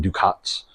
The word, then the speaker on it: ducats: right here I got 20,000 ducats that's the proper way to pronounce that so I could sell